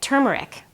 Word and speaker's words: turmeric: better than Ginger and turmeric turmeric that's how it's pronounced juice so I took